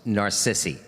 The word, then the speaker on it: narcissi: uh narcissy but the the accent is on the second part so it's narcissi um david hayasi did